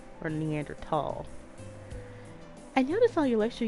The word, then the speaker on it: Neanderthal: preference a preface and there's no h sound when it's pronounced in french and german it's something when i